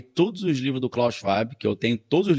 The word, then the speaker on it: Schwab: Esse termo foi inventado por um cara chamado Klaus, se escreve Schwab, né? Mas em alemão é Schwab, já que ele é alemão.